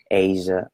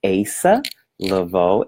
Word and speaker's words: Asa Leveaux: to pronounce my name it's not a sir Asia awesome mmm-hmm none of those its ASA Laveau and that level works it's a syllable alright so I see